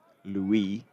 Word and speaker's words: Louis: Lewis Rees is in and bowling to Louis Kimber. Doesn't pronounce the S.